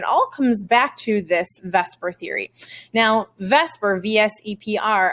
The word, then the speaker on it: VSEPR: to be talking about vesper theory today now i'm sure you looked at and you said vs epr theory but it's actually pronounced vesper theory i know it looks like veseper but it is vesper